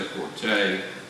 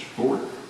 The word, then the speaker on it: forte: Some people say forte. Check the dictionary, the correct pronunciation is forte. It's his forte, and he does it really well.